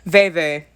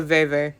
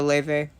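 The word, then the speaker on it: vèvè: Veve. It's a Veve, not a Leve. It's like Veve.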